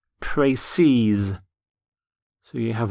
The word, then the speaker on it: précis: The plural of précis is in fact spelt exactly the same, but it's pronounced précise.